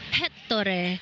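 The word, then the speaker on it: Ettore: pronounce his name so he said it's hetto it's like Hector Hector like the accent is in the E so heor I hope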